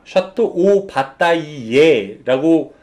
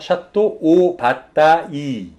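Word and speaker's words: Château Batailley: 샵도 봤다 이 예 이 발음을 잘 못하신 분도 굉장히 많은 와인 이에요 샤또 오 받다 2 예라고 다름 해주시는 경우가 있는데 아닙니다 샤또 오 봤다 이 까지만 해주시면 되어 우리 식으로 발음 하시려면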